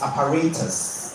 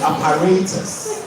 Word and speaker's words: apparatus: Well, both of you are wrong. It's apparatus. It is the A for me. It's apparatus. You can check the British pronunciation.